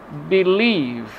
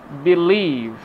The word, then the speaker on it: believe: For example, begin, begin, believe, believe, involve, involve. As you see, the red part of the word is the second syllable, so we have the